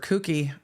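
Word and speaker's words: Kucky: her own expert Mr cookie I think is how we have to pronounce that k u c KY cookie cookie kie okay Frank the nice man who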